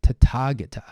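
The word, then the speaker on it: Tathāgata: but sometimes translated is tatagata in Pali this th is a sound it is not a tha tha is actually um very difficult phoneme to pronounce for most people in the world so to Target a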